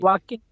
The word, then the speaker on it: walking: যেমন হচ্ছে ওয়াককে ওয়াল্ক উচ্চারণ করা, এলের প্রোনাউন্সিয়েশনটা হবে না।